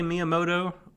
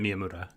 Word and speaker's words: Miyamura: of it which does work did i say miyamoto because i meant miyamoura i thought i said miyamura but my fault